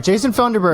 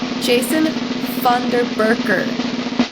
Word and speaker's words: Jason Funderburker: Sorry, Jason Funderburg. Wait a second. Wait, Cooper, you Oh my still didn't gosh. say it right. Okay. Jason Funderburker.